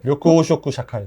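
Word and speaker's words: 緑黄色社会: 자, 그 다음 이제 일요일날 영어로 뭐라고 읽어야 되나요? 료쿠 오쇼쿠 샤카이.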